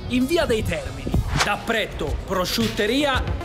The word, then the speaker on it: Prètto: No, perché a me mi è rimasto impresso, perché c'ha l'accento sulla E. Sì, c'è l'accento. Pretto. No, no, Pretto. No, Pretto. Pretto. Ah, con la è aperta. Pretto, Pretto, ragazzi, se venite qua è Pretto.